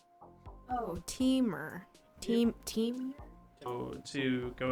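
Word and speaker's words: Temur: the very last one green blue red rhymes with femur oh teamer team team oh to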